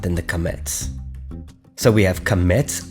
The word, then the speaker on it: qametz: This is the vowel name qametz, and it is a long A sound. Ah.